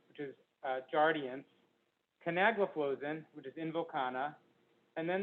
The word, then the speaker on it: canagliflozin: which is farsiga empagliflozin which is uh giardians canagliflozin which is invokana and then there's two other